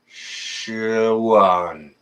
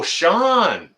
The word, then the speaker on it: Sean: So if there's anyone in my area, your name is pronounced Shuan. Wait a second. Shuan in Alaska. Oh, Sean.